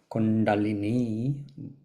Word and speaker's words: Kundalini: So Kundalini, also pronounced Kundalini, because the last I is actually a long I, so Kundalini, meaning she